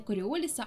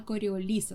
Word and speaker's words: Коріоліса: для нашої мови але наголос у прізвище саме на останній склад не коріоліса а коріоліса Сподіваюся що сьогодні коли